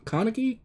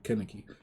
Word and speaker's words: Kaneki: what's his name ken kaneki kaneki i forgot kaneki yeah i i look at how it's spelled that's why i called him kenneke but when he says